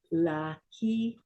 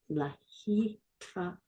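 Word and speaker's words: להתראות: Lahitraot. Say it again. Lahitraot. Say it again. Lahitraot.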